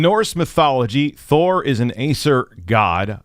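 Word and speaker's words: Æsir: mythology Thor is an Acer God I believe I said that right I looked it up and that's how they said to pronounce Acer uh Acer God associated with thunder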